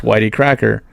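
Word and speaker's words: YTCracker: exactly so how his name came about was it's uh why the letter y the letter T and then cracker pronounced Whitey cracker he was um born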